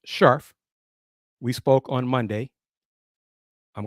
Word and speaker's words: Scherf: Basketball, Miss Dana Scharf, spelled Scherf, but pronounced Scharf.